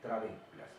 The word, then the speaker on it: trabéculas: el nombre de trabéculas, con B larga y acento en la E, trabéculas.